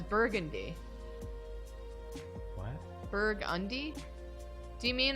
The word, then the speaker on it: Burgundy: Someone just said that in New Orleans, you pronounce Burgundy as Burgundy.